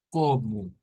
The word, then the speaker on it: como: y ahora vamos a la palabra como como es de estas que hemos dicho que llevan o al final y la o se convierte en una u como como y es para